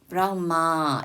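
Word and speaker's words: brahmā: 우리가 빨리어를 보면은 브라흐마 이 A의 위에 작대기가 붙으면 이게 발음을 길게 하는 거예요.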